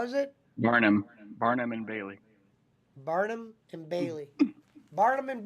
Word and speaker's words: Barnum and Bailey: Barling Bailey Circus? Barling Bailey? I can't even say the word. How is it? Barnum and Bailey.